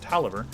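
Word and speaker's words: Taliaferro: it's by Al Tolliver it's kind of hard to pronounce it it's like I'll tell a fairy oh but I think it's pronounced Tolliver we're gonna open this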